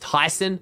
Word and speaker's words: Tayson: if you didn't know tayson's name is actually supposed to be pronounced tyson because his name is tai we just all say